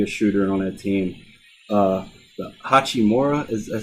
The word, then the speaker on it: Hachimura: The Hachimura is how you say it.